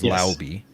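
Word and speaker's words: Laube: backs with Dylan lby which apparently that's the proper way of pronouncing his name as lby uh I learned that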